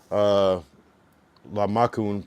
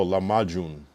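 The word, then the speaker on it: lahmacun: La makun pronounced, oh, la majun.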